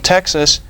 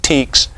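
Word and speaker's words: TEKS: In Texas, we have the TEX, or some people pronounce it TEEKS, and it's very clear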